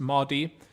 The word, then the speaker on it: Mahdi: uh but i think in the movie it's pronounced moddy so yes this uh